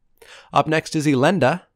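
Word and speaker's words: Elenda: - up next is Olinda not Alondra as i'm gonna pronounce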